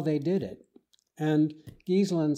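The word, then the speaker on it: Ghiselin: Well, one very early influence on me was reading a book by a man named Brewster Gieselin, that's spelled G-H.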